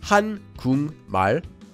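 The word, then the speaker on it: 한국말: So we change the sound of the kiok at the bottom of guk into an iung, and that syllable becomes gung. So together we get han-gung mal, or read quickly, han-gung mal.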